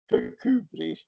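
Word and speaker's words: Kirkcudbright: Well, the most common one is the one I named before, which is Kubri, which looks like Kirk Cud right.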